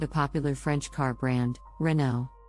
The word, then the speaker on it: Renault: popular French car brand Renault the correct pronunciation is Renault with the emphasis on the second syllable many people mispronounce it as reynault now let's talk about